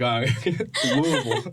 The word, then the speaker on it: Louisville: was being right about it, and you said Louisville, and I just looked at Hayden. I heard you pronounce it right. And before I started speaking, I was like, Louisville.